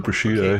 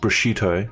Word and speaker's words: prosciutto: I thought you were saying prosciutto.